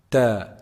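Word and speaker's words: ت: Ta is actually pronounced from the top part of the tip of the tongue. The top part of the tip of the tongue when it hits the roots of the upper front incisors.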